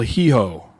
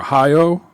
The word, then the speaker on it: Hijo: And the last one is called El Hijo, or Hijo. I'm not sure how you pronounce that. Hijo. I'm going Hijo. Hijo. Sounds about right. Yeah. Like Trujillo.